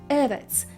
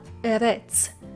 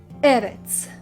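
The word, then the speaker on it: ארץ: Notice how the stress or the accent falls on the first syllable and not on the second. You say Eretz, not Eretz. So once again, Eretz.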